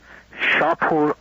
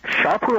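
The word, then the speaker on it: Shahpour: Now, one of those Air Force generals was Air Force General Shapur Azarbarzin. Is S-H-A-H-P-O-U-R, and his last name is spelled A-Z-A-R-B-A-R-Z-I-N.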